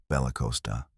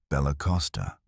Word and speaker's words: Bella Costa: You'll say Bella Costa with a soft C and no extra vowel. Not Bella Costa. Bella Costa.